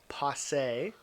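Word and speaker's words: posset: a drink they called and I might not pronounce this right but it's called Posse p-o-s-s-e-t they called it and it was a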